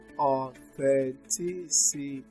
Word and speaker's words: authenticity: But this time around, we don't stress on what you call the penultimate syllable. That is the syllable before the syllable before the last syllable. Here you stress the third syllable from the end.